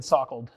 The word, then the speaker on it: Salkeld: First 4 letters rhyme with walk or talk. Okay. Sock. And the last 3 letters are like the past tense of a verb, like pickled. So after this, you will have been sockled. Oh, that's pretty good. I like it. I think it should be a verb. Probably S-O-C-K-L-E-D, but if anyone saw S-O-C-K-L-E-D, you'd know how to pronounce it. In English, you'd say sockled.